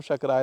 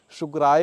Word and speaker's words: शक्राय: उच्चारण कर रहे हैं, शुक्राय होता है, तो शुक्राय नमः नहीं है, यहाँ शक्राय नमः ही है।